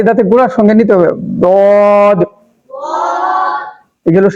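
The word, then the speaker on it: ضاد: উপরে মাড়ির কি করতে হবে? গোড়ার সঙ্গে লাগাইয়া এই হরফটা উচ্চারণ হবে। সেখান থেকে যে হরফটা উচ্চারণ হবে সেই হরফটার নাম হচ্ছে দদ।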